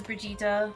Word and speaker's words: Brigitte: there's just her name is Brigitte. Well, that's how it's pronounced. It's just called just written Bridget.